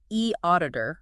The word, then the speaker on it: eAuditor: E auditor. Remind me how to say it. E auditor. That's E e auditor. P pronounced e auditor.